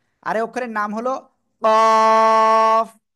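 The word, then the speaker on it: قاف: এই অক্ষরের নাম হলো কাফ মোটা আওয়াজে চার এলিফ টেনে পড়তে হবে জিহ্বার গোড়া তার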